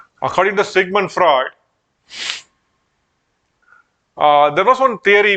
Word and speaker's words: Freud: out okay then uh according to Sigmund Freud you need to pronounce just fried according to Sigmund fraud uh there was one